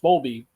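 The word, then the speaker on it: Bowlby: uh April uh Bob I think it's pronounced bolby uh who was on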